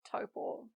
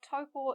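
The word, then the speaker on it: Taupō: It was then that I learned that Taupo is a Māori place name, and so we should use Māori sounds to pronounce it.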